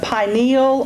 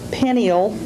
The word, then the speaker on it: pineal: Langerhans, adrenals, gonads, and this one I've heard 3 different ways. I usually pronounce it either pineal or pineal. It has a third pronunciation, but I've only heard it one time. So either pineal or pineal gland.